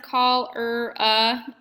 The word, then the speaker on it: cholera: Cholera, pronounced cholera, is contaminated, which means that impure, harmful, and unusable.